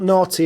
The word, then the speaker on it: Nauti: And it's spelled Naughty as in N A U TI. Siren, is it? Correct. Like nautical.